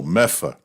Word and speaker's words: Medford: Finally, they go, Medford. No, Meffa. Oh, wait. And then he says, oh, wait, you're right. Because the only people who pronounce Medford, Massachusetts, Meffa, are the people who live there.